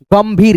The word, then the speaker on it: गंभीर: अब यहाँ पे देखो गंभीर, गम, अब यहाँ पे एन तो लगाएंगे नहीं क्योंकि दोस्तों इसका बिंदी का उच्चारण आधा मौ के रूप में आ रहा है, जैसे गम भीर, गंभीर, गंभीर, मो।